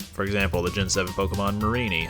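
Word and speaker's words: Mareanie: the gen7 Pokemon Marini I had no idea was pronounced Marini I always thought it was Mary Annie it was only until I saw the anime where I realized I was actually pronounced Marini which but I realized you know what that makes sense because it's a meanie and it's a marine creature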